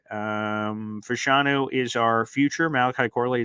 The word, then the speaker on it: Fashanu: Like, the thing I feel good about is that Fashanu, that's how you pronounce it.